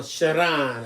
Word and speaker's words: Sharon: So is it pronounced Sharon or Sharon or something exotic sounding? It's Sharon.